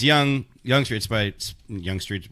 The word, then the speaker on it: Yonge Street: cuz it's funny to say that so it's young young traits but young street yiou ng this